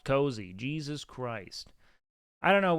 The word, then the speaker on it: Koozie: on the day um isn't it pronounced cozy it's k o o z i e so that is pronounced cozy Jesus Christ I don't